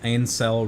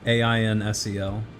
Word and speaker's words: Ainsel: So it's like incel, but with an E. No, there's an A-I-N, not I-N.